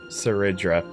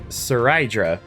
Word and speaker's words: Seridra: I'm not going to lie, I'm going to have to really train myself to say her name. Seridra. Seridra. Seridra. Seridra. Cuz when I read that, I would be like Saridra or or something.